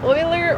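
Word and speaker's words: Euler: And then is e u l e r pronounced as oiler or uler?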